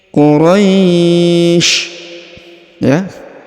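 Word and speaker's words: قريش: cara bacanya liii Qurais ya lifi Quraisy Quraisy kemudian perhatikan huruf RO dipanjangkan boleh dua boleh empat boleh enam karena di depan huruf ro terdapat Ya Sukun yang ini sebelum huruf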